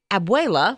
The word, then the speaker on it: abuela: And I talked to my daughter yesterday because I wanted to get the correct pronunciation. So hopefully I got it right. But anyway, she said, abuela, which I knew this, is the term for grandmother, right?